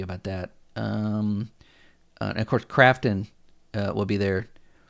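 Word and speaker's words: Krafton: Now, is Crafton the same as Grafton, or did I get that wrong? Is that, I thought, or did somebody misspell that? Grafton buys Hi-Fi Rush. It should be Crafton. I thought, is it Crafton or Grafton? It is Okay, I got it right. It was Crafton.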